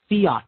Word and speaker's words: fiat: Fiat Empire Fiat Empire theat is spelled f a t theat it's a Latin word it means so